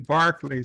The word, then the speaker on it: Berkeley: Berkeley Berkeley broccoli Barclay Barclay Square a nightingale sang in Barkley Square it's spelled Berkeley at least in London it is random Menace is attempting